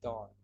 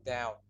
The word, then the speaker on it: dawn: This is not down. Oh ya, I'm sorry. This should be dawn. Ya, bukan down. Kalau ini bacanya down, kalau ini bacanya dawn.